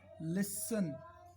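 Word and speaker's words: listen: टी में क्या क्या हो सकता है, जैसे एक होता है नॉर्मल, ऑफन, नॉर्मली, ऑफन, ज़्यादातर, इसमें टी साइलेंट हो गया। लिसन, लिसन टू मी, मेरी तरफ सुनो, तो टी इसमें साइलेंट हो गया।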